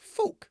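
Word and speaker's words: Phuq: He pronounced it more like Fook, Magda said. But you pronounce it like the dirty word.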